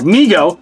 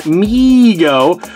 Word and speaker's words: Mego: response to overwhelming demand Mego pronounced Mego Corp was started by his father David Abrams in 1954 and named by his younger brother Howard who would say me go to arming Howard later